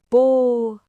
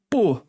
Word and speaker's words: pô: A pronúncia pode variar. No Rio de Janeiro eles falam mais como P mesmo, mas em São Paulo às vezes soa mais como pó.